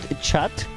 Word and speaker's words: chat: us about the french it's spelled chat but you don't say the t it's silent so like a silent